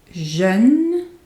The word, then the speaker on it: jeune: Jeune, young, jeune, and jaune, yellow, jaune. So in the first one, it's the sound E, jeune, E. In the other one, it's O, jaune, O, jaune.